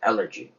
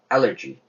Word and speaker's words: allergy: 그러나 알러지도 아니에요. 알러지 하면 못 알아들어요. allergy입니다. allergy. 액센트가 앞에 찍히고 에 발음이 됩니다. allergy.